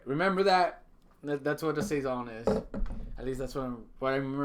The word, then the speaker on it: saison: It has to have a saison.